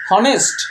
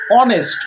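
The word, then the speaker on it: honest: কি দেখেন এইচ ও এন ই এসটি এর উচ্চারণটা কি হনেস্ট না এর উচ্চারণ হচ্ছে অনেস্ট অ উচ্চারণটা কিসের মত হচ্ছে সরে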